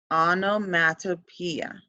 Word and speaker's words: onomatopoeia: one this one one is pretty tricky to pronounce but we're gonna make it through so we're gonna go slow onomatopoeia onomatopoeia and an easy way to go about